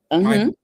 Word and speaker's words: MIPA: MIPA, which is the Mosaic Institute of Performing Arts.